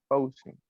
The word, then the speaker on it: cousin: Cousin.